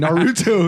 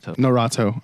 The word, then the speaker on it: Norato: No, I was saying Naruto. Naruto. Hey, that happens every single time. Oh my Don't God. feel bad. That happens every single time. Okay, how do I pronounce it correctly now? Norato. Okay, I don't want to butcher it again. Norato.